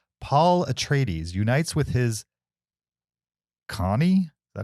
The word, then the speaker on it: Chani: The official IMDb plot synopsis for Dune: Part 2 is Paul Atreides unites with his Connie? Is that how you say her name? Chani and the Fremen while seeking revenge against the conspirators who destroyed his family.